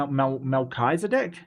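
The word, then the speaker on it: Melchizedek: So, you said the ch is pronounced as a K. KK. Melisedc. Mel Melchisedc. Mechisedc me Melkisedc.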